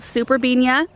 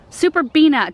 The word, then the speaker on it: Superbena: This is called Superbenia. Superbena, did I just say Benia? Oh my gosh, harkening back to the year where I could not get that pronunciation right.